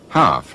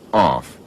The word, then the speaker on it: half: his country after Johnson educated people would spell and pronounce words according to the dictionary half not off thrust not frust chain not Chine and so copney the